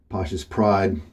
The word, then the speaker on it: Pasha's Pride: of my favorite scents Pasha's pride from holy cow and I have checked and that is how you pronounce that very odd spelling just a normal looking